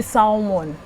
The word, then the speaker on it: salmon: Or salmon, however you put, but it's the L is silent.